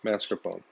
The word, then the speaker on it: mascarpone: thing here we have mascarpone cheese yes i said it right mascarpone so instead of just